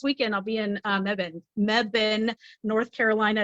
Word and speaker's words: Mebane: of course this weekend I'll be in uh Mebane North Carolina it's not babain I've I was mispronouncing it for like a month that's all